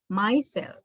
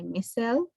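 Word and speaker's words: micelle: this type of ball we call it myself or missile some people say missile mostly in american pronunciation it is michelle or in european pronunciation this is called myself so this my cell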